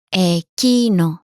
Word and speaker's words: εκείνο: Εκείνο, That, εκείνο, εκείνο.